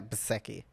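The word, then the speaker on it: Bezzecchi: So it's like almost like a sound for the the the double zebras. I'm going to say bki. Yeah. Yeah. Baseki.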